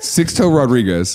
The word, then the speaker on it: Sixto Rodriguez: I was saying it wrong the way you did. Sixto Rodriguez. Sixto Rodriguez.